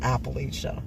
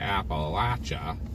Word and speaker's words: Appalachia: they interviewed that said Appalachia and she was from Pittsburgh area. Yep. So we've decided that that's definitely a Pittsburgh pronunciation. Yins all say appalacha and we say appalachia.